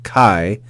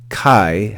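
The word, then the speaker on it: καί: by Alpha and Yota these two letters here Alpha and Yota form a diphthong so even though there's two vowels they're red with one syllable so the word Kai Kai has one syllable you'll notice that above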